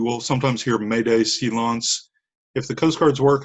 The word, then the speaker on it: silence: good yeah it's it's it's written silence it's pronounced silence you will sometimes hear made a silence if the coast guards work in a case